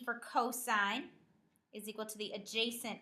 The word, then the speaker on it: cosine: hypotenuse next we have cosine abbreviated cos again you would read this as cosine not cos the cosine of an